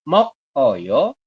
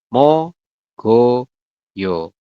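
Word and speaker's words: 먹어요: seperti itu yang terakhir tulisannya mok Oyo tapi dibacanya adalah mo go yo kelihatan Ya bedanya Oke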